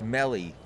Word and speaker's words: mello: Spang has corrected us the eye sounds like an e like in C so it's Melly there you go the